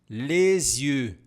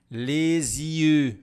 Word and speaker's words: les yeux: Faça atenção à pronúncia dos olhos. Lesie, lesieu. Você vai sair, ó, fazendo o biquinho.